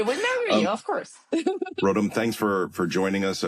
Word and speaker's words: Rotem: It's hard to pronounce because of the R at the beginning.